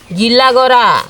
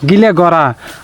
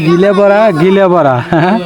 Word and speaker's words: গিলাগড়া: গিলাগড়া। গিলাগড়া। আমরা কিন্তু এই গিলাগড়া উচ্চারণই করতে পারি না, খালি কই গিলাবড়া গিলাবড়া। গিলাগড়া, পাকপাড়া, করেইগড়া।